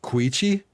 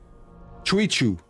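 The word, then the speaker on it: Kinich: no need to worry it's pronounced kuichi this whole time I was thinking it was Chu they ran into the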